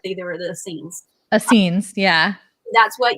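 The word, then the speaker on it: Essenes: the bible right the the oh if i pronounce it right the sneeze oh i know i've heard of that before okay just corrected me he's like there were the scenes uh scenes yeah that's what yeshua really worked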